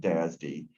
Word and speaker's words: DASD: That's how you would pronounce that, DASD.